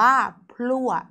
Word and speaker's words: พลั่ว: มาก กว่า 1 ตัว คำ นี้ อ่าน ว่า พลั่ว คำ ว่า พลั่ว เกิด จาก พอ รอ อัว